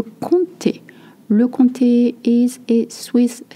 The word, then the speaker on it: comté: You don't say comté. Le comté.